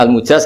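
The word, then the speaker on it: المجاز: Saya tidak perlu nulis sanad lagi karena sanad itu untuk al-mujaz, bacanya al-mujaz karena dari fi'il madhi ajaza.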